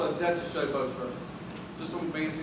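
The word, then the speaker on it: détaché: That's called a detaché bow stroke. Just some fancy name. I think it's German. Right? So it's called detaché. Even though it's spelled detached, it doesn't make a whole lot of sense.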